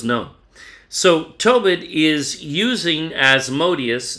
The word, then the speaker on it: Asmodeus: So really, Tobit is quoting 2 Kings 17 as Asmodeus, Asmodeus. His name is even pronounced in Greek, Asmodai, Modi.